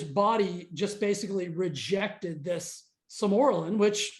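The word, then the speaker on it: Sermorelin: That's Samoralin.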